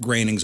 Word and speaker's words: Groening: So this is her Margaret Groening's obituary. And that's by the way how you pronounce his last name.